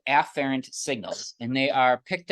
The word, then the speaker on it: afferent: What I will do in lecture, generally the pronunciation of these is afferent and efferent, which sound almost identical.